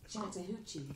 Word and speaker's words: Chattahoochee: How do you pronounce it? Alexa, play Chattahoochee. Chattahoochee.